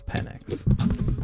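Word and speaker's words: Penix: Why does Kevin keep calling the Falcons quarterback Penn and not Phoenix? Is the biggest city in Arizona not called Phoenix? True, not Phoenix. That is an interesting point that I had not really considered whatsoever, but I think Michael himself says it's PennX.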